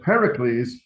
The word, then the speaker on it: Pericles: all these greek names the rule is you put the accent on the third to last syllable however the reason that doesn't always work is that pericles was probably sorry not